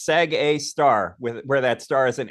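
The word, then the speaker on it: Sgr A*: call the black hole sag a star yeah they consider black holes a star no no no no that's just the notation it's an asterisk and you pronounce it star sag a star right is it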